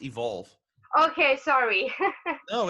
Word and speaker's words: EVQLV: much for having me by the way it's pronounced evolve okay sorry oh it's totally fine i mean